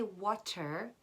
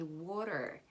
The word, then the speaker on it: water: i do water water we don't say water we say water the t here becomes like an r like an er between er and or er water that's when a tea comes between two vowels butter butter we don't